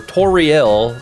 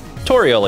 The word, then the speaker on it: Toriel: me to a Real's name is actually like a play on the name tutorial so toriel is or toriel toriel toriel is actually how you like pronounce her name because they're they're doing